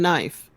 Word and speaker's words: knife: words like Knie and Knife. The K is silent. So why is it there? Why is it hanging out in a word that it has no purpose? It should be NIFE and NEE.